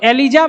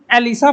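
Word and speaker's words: ELISA: अब लोग अलग अलग प्रोनाउंसिएशन इसका करते हैं, एलिजा भी कोई बोलता है, तो हम लोग थोड़ा ऐसा प्रोनाउंसिएशन करते हैं जो कि याद रहे हमेशा, है ना। तो एलिजा भी पढ़ा जाता है इसको, मेनली एलिसा पढ़ते हैं, कोई दिक्कत नहीं, है ना।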